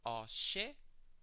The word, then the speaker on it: Oshe: You pronounce this Oshe, Oshe, Oshe.